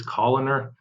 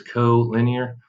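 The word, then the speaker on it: collinear: two words here are co-linear uh co-linear just means in the same line common mispronunciation when people are reading it is columnar it is co-linear and then we have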